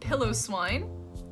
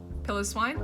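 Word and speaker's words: Piloswine: right yeah sure then we have Swinub and pillow swine pillow swine pillow Sween plus wine and then we have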